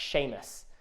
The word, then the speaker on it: Sheamus: name Sheamus but Shaye if you didn't know how to pronounce my name it's pronounced Sheamus and this is your